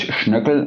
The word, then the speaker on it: Schoeckel: It's Schoeckel in German, but there's not many people that pronounce it that way outside Germany.